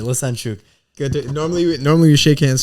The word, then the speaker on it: Lesenciuc: Did I pronounce that right? You got it right. You got it right. Lesenciuc.